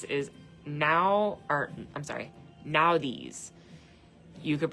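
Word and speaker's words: Nauthiz: This is now or I'm sorry, Nadis. You could pronounce it Nadis or Nadis.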